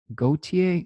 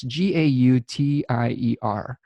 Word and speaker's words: Gautier: I believe she pronounced it Gautier. No, it's Gautier. It's a French.